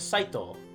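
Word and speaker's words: 斎藤: try out this is saito thank you tito and what this means saito purification and is wisteria so the reading of this the reading of this name is cyto however it's weird because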